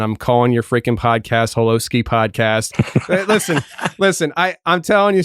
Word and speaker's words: Holosky: Holosky it is. Yeah. I was like, Tony, I actually spelled out hollow and then sky, and then you still mispronounced it.